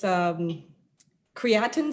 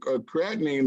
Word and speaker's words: creatinine: Maybe I'm not saying it correctly, but it's creatine storm. Maybe it's The creatinine, that's from the kidneys.